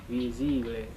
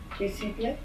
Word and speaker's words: visible: We're not pronouncing that S as a Z, like in English, visible. Many people at home will find themselves doing this, putting that Z there from English and pronouncing visible. We don't want that, we want visible.